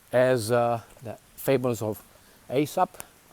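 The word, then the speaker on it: Aesop: uh the fables of ASAP that's how you pronounce asop ASP the Greek uh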